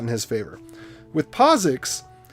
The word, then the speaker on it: POSIX: all caps you want to use the harder syllables so it's posix posix post six it's posix not posix that's